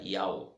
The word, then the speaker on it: Yahweh: Yahweh, se pronuncia Yahweh.